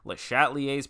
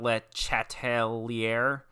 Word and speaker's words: Le Chatelier: principles of modern chemistry le chatelier's principle pronounced not you know it does it's not let chatelier like it is le chatelier um i i